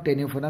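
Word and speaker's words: Ctenophora: Sorry, Cnidaria और टेनोफोरा में सी silent है।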